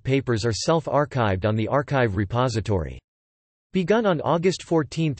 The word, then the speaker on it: arXiv: ArXiv, pronounced ArXiv. The X represents the Greek letter chi is a repository of electronic preprints known as e-prints approved for publication after moderation.